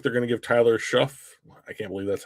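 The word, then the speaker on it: Shough: New Orleans looks like they're going to give Tyler Schuff, I can't believe that's how you say his name, a chance.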